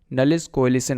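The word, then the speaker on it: nullish coalescing: अब हम समझते हैं लास्ट ऑपरेटर जो हमारे पास था, नलिस कोएलिशन ऑपरेटर। अब थोड़ा इसका नेम वियर्ड है और थोड़ा प्रोनाउंसिएशन में भी डिफ़िकल्टी आ सकती है, लेकिन इसको ऐसे ही बोलते हैं, तो हम इसको शॉर्ट में नलिस भी बोल सकते हैं।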